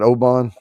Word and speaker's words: Oban: And then the Western region of the Highlands includes Oban. Is that how you say that, Oban?